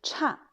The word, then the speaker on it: 差: Ensuite, quatrième don, cha. Cha, c'est un adjectif adverbe qui veut dire mauvais ou pas bon, écart ou inférieur à quelque chose.